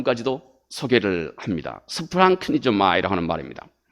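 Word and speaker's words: σπλαγχνίζομαι: 있는 독특한 때문에 그냥 이 말에 올래 그 발음 까지도 소개를 합니다 스 프랑크 미조 마이라 하는 말입니다 이 컴패션 이라고 영어에 그렇게 번역되어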